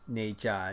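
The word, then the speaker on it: Ne Zha: one animated or one 3D film called uh n j now that it's it's kind of a it's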